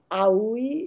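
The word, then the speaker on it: Haüy: So the umlaut in French means that you pronounce those vowels separately, like Haiti being A-I-T. So Aoui, it's still hard to say.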